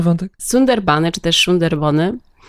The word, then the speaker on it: Sundarban: poprawiają że się wypowiada sunder Bony bo tak ponieważ węgielska brzmi jakoś No trochę może ja tak nie do końca to poprawnie wymawiam ale w bengalskim Znak S wymawiamy jako sz czyli szerb to jak